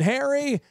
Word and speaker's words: Hare: Mr you know I always say hair like a rabbit uh because that's the easiest way to say it some people I always get people to spell my name h-a-i-r on coffee cups and